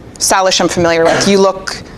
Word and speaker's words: Salish: Yes, she is Salish Kootenai.